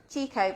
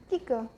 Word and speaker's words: Kiko: Everybody says Chico, but it is Kiko because it's an Italian. Yeah, Kiko.